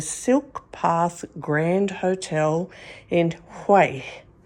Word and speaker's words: Hue: We're at the Silk Path Grand Hotel in Hay, spelled H U E, but pronounced Hay.